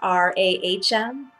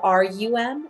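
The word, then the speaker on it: रं: And the mantra for the solar plexus is RAM, but it's pronounced RAHM or RUM as Ram.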